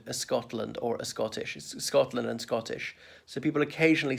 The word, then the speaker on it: Scotland: to the letter s pronounce the s first don't add an invisible e there is no e in the word a Scotland or a Scottish Scotland and Scottish so people